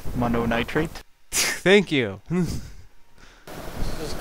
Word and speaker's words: Mononitrate: watch the German player monot trate or monot trate God I can't even say his name right mono nitrate thank you just call